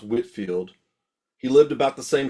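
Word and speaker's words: Whitefield: Actually, it's pronounced Whitfield.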